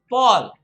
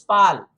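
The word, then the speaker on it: pall: the most important there p a double l is paul please for god's sake do not go ahead and pronounce this is pal it's not pal it's paul it's as good as somebody's name p-a-u-l paul that's what it is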